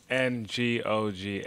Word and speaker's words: Ngoga: He has an N, so it's not G-O. Wait, is it? The N is silent. So spell your name, last name. Ngoga.